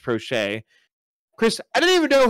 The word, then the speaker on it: Proche: the lines of Rashad Bateman, Devin Duvernay, James Prochet the second, and it is pronounced Prochet.